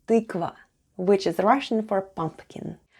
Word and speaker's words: тыква: Тыква. Тыква. Let's spell the word тыква. The first sound is t, then we have y. Try saying e while pushing the tongue to the back of your mouth.